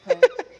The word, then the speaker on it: Ewe: It's Epe. You say it with a touch on your lip.